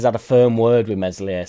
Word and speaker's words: Meslier: get away from the mesle silent s stuff but it's difficult in it there's been a rumor floating around that is far has had a firm word with mesli silent s and talk